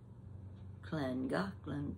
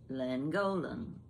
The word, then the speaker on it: Llangollen: Now, if you were looking at that word, you and I, Llangollen starts with a double L, land. And the Gollen is G-O-L-L-E-N, Golan. So I would pronounce it Llangollen. It's Llangollen.